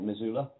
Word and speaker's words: Missoula: he you made your first film um I pronounce that right Missoula Montana yeah yeah um you made your first